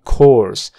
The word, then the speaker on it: course: corto con una c esta vocal a cuando está al lado de una r se vuelve una o profunda O my course my course of action